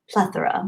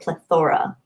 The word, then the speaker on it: plethora: And then one day, I think one of my parents was listening to me talk, and they're like, you realize it's actually pronounced plethora, not plethora.